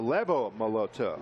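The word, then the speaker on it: Lebo Moloto: Leo Leo Lebo Moto it's like a V but a b okay it's like Leo BS had time so levo moloto yes and bogs wound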